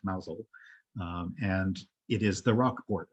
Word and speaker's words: Mousehole: It looks like Mousehole, but it's pronounced Mousehole.